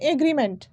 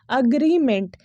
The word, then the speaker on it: agreement: ये आपका जो सही प्रोनाउंसिएशन होगा, जो सही उच्चारण होगा ना इस शब्द का, वो है अग्रीमेंट, AGREEMENT का सही प्रोनाउंसिएशन है, सही प्रोनाउंसिएशन है अग्रीमेंट, ठीक है। इट्स नॉट एग्रीमेंट या एग्रीमेंट, ये दोनों ही गलत है, ये सही है, ठीक है।